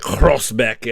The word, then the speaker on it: Groesbeek: They have this very guttural G. Like there's a town that was involved in Operation Market Garden, where it's spelled like Groesbeck or Groesbeek, and they pronounce it like Groesbeck, and I can't do it to save my life, but that's one